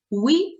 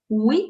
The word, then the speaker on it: oui: Pronunciation, oui. Oui. The letter we is going a little bending. Oui. Oui. Oui, ça va bien, merci. Oui, ça va bien, merci. Oui, ça va bien, merci.